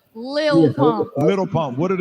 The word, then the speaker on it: Lil: It's like little baby. It's That's like exactly what it is. It's Little. Like Lil, Isn't that his name?